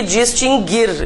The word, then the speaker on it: distinguir: Então, extinguir e distinguir, e inclusive todas as suas conjugações. Nunca teve trema, o U nunca foi pronunciado, nada mudou então, né?